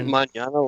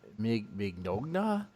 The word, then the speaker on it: Mignogna: Is that mañana like tomorrow? Yeah, like mañana, mañana. Like I coughed and you made me laugh. Oh my god, that hurt. Honestly, I'm guessing that's how you pronounce it. That's how everybody else pronounces it. If I were to see this, if I were to try to pronounce it, I'd be like Mignogna.